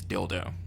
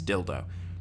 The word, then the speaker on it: Dildo: as funny as as dildo since it is dildo like there's no difference it's dildo these other ones are more like these are